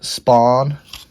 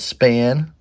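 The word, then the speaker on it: Spahn: Red Heart of waren Spawn I know somebody corrected me last time I posted a raw vintage video and I said span spawn is how you pronounce his last name look at me I'm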